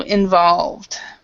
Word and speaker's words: involved: uh Anna Carolina is you're pronouncing the E okay and you can't and the E is completely silent so involved okay okay sorry let's